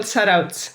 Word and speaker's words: Zarautz: And if you could help us with the pronunciation of your home break, that would be awesome. Yeah, it's called Zarautz.